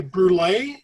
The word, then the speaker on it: Brulee: I live in Syracuse, New York, and it's actually brulee. Like oh, brulee.